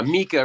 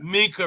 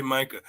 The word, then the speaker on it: Mika: is it is it is it mica records uh mika records mika records i always say micah my bad folks yeah